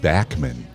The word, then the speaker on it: Bachman: Madison they don't get enough credit Bachman Turner over even he their songs anywhere Randy Bachman actually pronounces it Bachman but everybody calls it Bachman so even he calls himself bman Turner yeah it doesn't